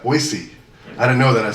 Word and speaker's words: Boise: been to Boise Idaho they pronouncing that soft s like that Boise I didn't know that I said Boise and it was like